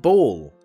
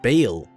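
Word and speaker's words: Baal: Everybody's been saying, hey, it's pronounced ball. What do you mean it's pronounced ball? Have you not played Diablo 2? Everybody in that game pronounces it Bale. It doesn't matter. That name is like thousands of years old anyway. We're probably all saying it wrong.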